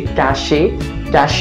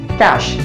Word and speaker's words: cache: Okay, this people pronounce it in a wrong manner, like we say cache memory, but the correct pronunciation of this word would be cache, like the cash we carry in our pockets.